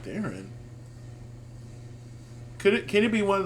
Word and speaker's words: Theron: We're also joined by Carson Kressley and our special guest judge, Charlize Theron. No, I'm sorry, Theron. Theron. Charlize Theron. Now, I've always heard people pronounce it Theron.